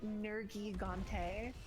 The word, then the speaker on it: Nergigante: Like, the voice actors say Nergigante, and I'm like, just Nergigante. Why are we, like, emphasizing that I? It's a little, it doesn't make sense. Oh It's man. not Nergigante, it's Nergigante, please.